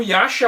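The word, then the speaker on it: Yasha: ele é o rei yacha o termo yasa é a pronúncia japonesa pros yaksha e os yaksha lá na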